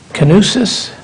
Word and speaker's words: Canusis: Canusis? Yes. Was I? You said it well. My father always said you need to, if you sneeze it, or say it like you sneeze it, you're saying it right.